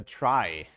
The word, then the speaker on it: trie: so the thing is called a try pronounced like in I try to be a good person um I'll comment on